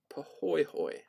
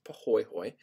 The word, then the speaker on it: pahoehoe: them the first is pohoyhoy all right it looks like pahoehoe but it's actually pronounced pahoyhoy and this is a